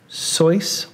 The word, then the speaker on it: Seuss: pieces of trivia are he originally pronounced his last name sois or his voice not Seuss but he switched it because it ran with mother Goose and at the time